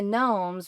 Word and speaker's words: gnomes: And the gnomes rhymes with homes and that's how I knew they were going to live in treehouse homes.